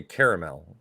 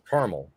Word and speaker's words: caramel: one out real quick well if it's spelled like that i'm going to say caramel yep but i've also seen it spelled without the second a and it would be caramel here's my deal both